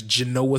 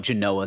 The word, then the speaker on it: Genoa: the wood board if you got a nice Genoa salami janoah Genoa salami my uncle used to call it Genoa salami I go what the